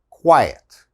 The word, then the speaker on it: quiet: back to the pronunciation the first one the q u makes a qua like a kw sound another similar word is diet okay this is quiet diet quiet all right and the